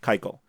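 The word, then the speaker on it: Keuchel: right somethings to be I don't understand how a word that's written k u c h e l is pronounced Kyo now this makes no sense to me okay but neither does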